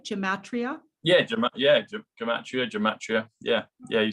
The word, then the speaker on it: gematria: Yeah, Gematria.